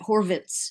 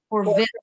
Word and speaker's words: Horwitz: I'm pretty sure that he pronounces it Horwitz. It's a V. Horwitz. Horwitz with a V.